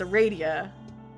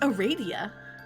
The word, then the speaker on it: Aradia: I'm not pronouncing it like that, because it's Aradia.